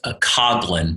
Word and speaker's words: Coughlin: Well, listen, his name is actually pronounced Coughlin, but it's spelled Coughlin. Perfect.